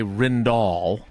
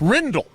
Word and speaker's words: Rindle: But I always want to say Rindall and I'm wrong. It's Rindle.